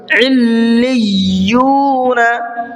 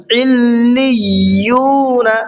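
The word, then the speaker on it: عِلِّيُّون: صحیح سے سمجھیے گا، علیون۔ تھوڑا سا میں لام پہ بھی رکا ہوں اور تھوڑا سا یا پر بھی رکا ہوں، کیوں؟ دونوں پر تشدید ہے اور دونوں کو ڈبل پڑھنا ہے۔ علیون۔ اب ہجے کر لیتے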